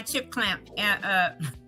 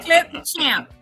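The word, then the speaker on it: Clipchamp: I always say it wrong. Clamp, I forget. Anyway, it's my editing software. Say that 3 times fast. I can't. That's why I always mess it up. I'd be like chip clamp, chip. So I'll put it in that in my chip clamp. You gonna figure that one out, huh? Clip champ. Clip champ. Clip champ. I put it in my chip. See, I said it wrong.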